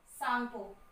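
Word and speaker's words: Tsangpo: T silent है, सांगपो. Okay, सो सांगपो river Brahmaputra river का ही name है.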